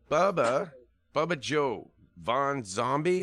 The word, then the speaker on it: Bubba Joe Von Xombi: So, Bubba Joe Von Xombi, is that how I say it?